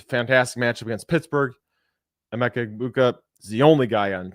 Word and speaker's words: Egbuka: where I'm avoiding Emeka Egbuka. No G. I got yelled at for pronouncing the G earlier this week, so that is my bad.